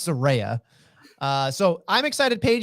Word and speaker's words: Saraya: giving my comeback 2-1 Soraya or Saraya depending on how she says she pronounces and like the dictionary tried to correct her and she's like you it's my name yeah it's Soraya uh so I'm excited